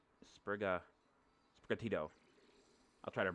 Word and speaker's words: Sprigatito: By the way, I'm probably going to pronounce my starter's name wrong, so Sprigato is what I'm calling it. Sprigatito.